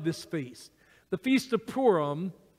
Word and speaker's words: Purim: feast the feast of Purim it's you pronounce that like P double O our poor poram the feast of Purim